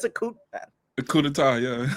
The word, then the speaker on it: coup d'état: It's a coup d'état.